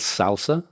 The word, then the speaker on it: SLSA: um so that slsa I learned is called Salsa uh or it's pronounced salsa so salsa uh in total attestations